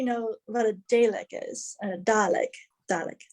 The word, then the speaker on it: Dalek: Dalek. It's spelled Dalek, but it's Dalek.